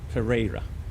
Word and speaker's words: Pereira: Ah, yeah, okay. Like in a ray of sunshine. Pereira.